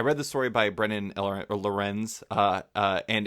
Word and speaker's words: LRNZ: Uh, he goes by the name LRNZ, which we're never sure if that's supposed to be pronounced Lorenz. We just say Lorenz, but his name Okay.